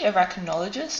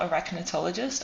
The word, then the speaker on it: arachnologist: you call spider scientist it's actually arachnologist not arachnatologist i was just a couple of syllables off but i was close